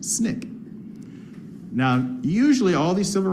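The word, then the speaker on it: SNCC: Student Nonviolent Coordinating Committee which is acronymous pronounced Snick now usually all these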